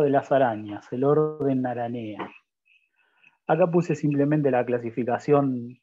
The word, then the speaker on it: Araneae: clase arácnida y ordenaranea se escribe araneae se pronuncia aranea se puede decir de cualquier forma o directamente araña bueno